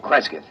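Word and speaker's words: Cresgyth: record it instead as um well, I'll I'll spell it. C R E S G Y T H Kresith.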